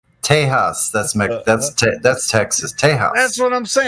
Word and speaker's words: Tejas: Texas is pronounced Tejas. Tejas.